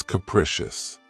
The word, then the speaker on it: capricious: of my favorites, is capricious. This word has 3 syllables, and the stress is on the second syllable. Keep in mind that the first syllable has that schwa sound. Precious. Capricious.